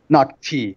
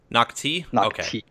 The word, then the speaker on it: Nak-Thi: the reveal of noi is that how you pronounce that planet's name nocti nocti awesome cool let's talk about that then what